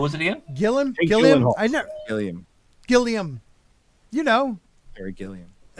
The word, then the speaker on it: Gilliam: Gilliam.